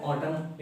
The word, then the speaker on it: autumn: अब आपको पता है ऑटम एक सीजन होता है, AUTUMN, ऑटम, एन साइलेंट है यहाँ पर।